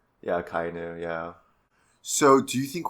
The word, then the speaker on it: Akainu: Akainu? Akainu, yeah.